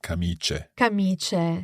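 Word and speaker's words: camicie: absolutely we pronounce that kamiche yes so there's no sort of stress on the eye there c-a-m-i-c-i-e but but I is simply there making the C soft although they even do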